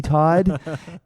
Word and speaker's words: Todd: to be really careful I say my name's Todd like t a w d Todd um so you know